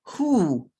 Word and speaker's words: who: This is who. You do not pronounce the W.